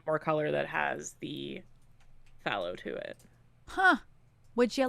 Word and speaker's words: phthalo: My main green color is actually phthalo green. Phthalo? Mm-hmm. How do you spell that?